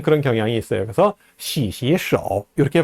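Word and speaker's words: 洗洗手: 삼성 글자가 연달아 나오면서 앞에 있는 두 글자 시가 다 제2성으로 발음됩니다. 시시 手.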